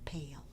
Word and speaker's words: pale: pale to the beach the two vowels that are going walking in the middle of the word are the A and the I you only hear the a the I is silent and the a is long so it's ale pale Jade we've been working on